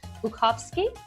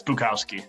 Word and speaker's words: Bukowski: The correct way to pronounce your last name is Bukowski. That's how you say it in Polish. That's actually really good. Yeah, it's Bukowski.